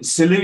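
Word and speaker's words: Selous: i pronounce it yeah french name originally hello yeah absolutely i say silent s absolutely yeah yeah it was the silly scouts that that put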